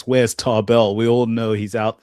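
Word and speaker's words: Tarble: They should have And him why the fight hell did you say Taba. Tarbell, bruv? It's Tarbell.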